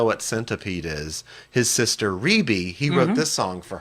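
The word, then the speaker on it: Rebbie: It's pronounced But it's Rebe. pronounced Rebe.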